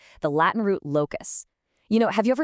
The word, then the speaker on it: locus: It's pronounced locus.